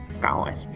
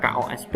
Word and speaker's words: KOSP: prinsip ya dalam pengembangan kosp atau bisa dibacanya kos gitu biasanya sering seperti itu kalau teman-teman guru gitu ya tidak kosp gitu nah apa saja lima